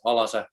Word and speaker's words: Alase: And I don't actually know how it's supposed to be pronounced, but I myself say always Alase in Finnish way. Okay, so I kind of thought that it would be, the English word alas.